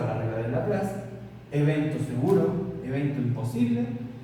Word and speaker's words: Laplace: Se pronuncia Laplace, es un apellido, ¿ya?